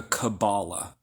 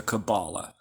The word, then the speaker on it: Kabbalah: As many people pronounce it in the West, the Kabbalah. I like to say Kabbalah, okay? Which is how a lot of people do it in Jewish circles, the Kabbalah.